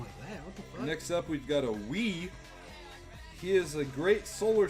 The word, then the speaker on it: Wi: like a sun bison it's called weat we is a pronunciation spelling is wi so wait if that's